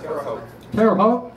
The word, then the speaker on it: Terre Haute: not there was a guy and if i pronounce this wrong forgive me in terre haute terre haute indiana is that right that's terre haute yeah i believe so all right good good